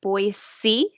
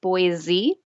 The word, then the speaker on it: Boise: the US, which is Boise, Idaho, which is pronounced Boise, not Boise. Oh. That's something locals will tell you.